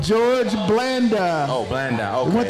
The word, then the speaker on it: Blanda: Jordan Blaine? George Blanda.